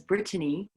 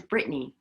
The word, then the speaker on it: Brittany: willisy hello hello and thank you for pronouncing my name right by the way nobody in canada says brittany it's always britney so it's nice to hear my name said properly but yeah there was